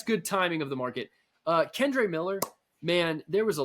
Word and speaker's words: Kendre: Davis and I, we'll be prepping for the show, and Josh's like, "Oh yeah, I think we should talk about Keandre Miller." I'm like, "Josh, it's Kendre." So Okay.